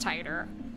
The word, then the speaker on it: Titor: heard about this before it's pronounced tighter i was talking about in terms of um lewdness oh yeah obviously yours is looter no tighter oh fair enough oh jon tighter tighter tighter tighter okay no i actually i think it is actually tighter it's tighter this is a name that's not japanese no one's gonna care if you pronounce it wrong i'm saying titter gerbil's